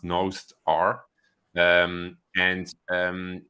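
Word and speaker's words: Nostr: have heard of Master uh which is actually pronounced nosed R um and um it's a relay peer-to-peer version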